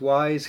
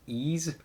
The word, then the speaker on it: Ys: from june 5th and i always want to pronounce this wise because that's what it looks like but it's actually pronounced ease so ease memories of salsetta timeless